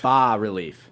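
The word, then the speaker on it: Bas Relief: that is I'm sorry how do you pronounce it it is bar relief ba relief so folks you're going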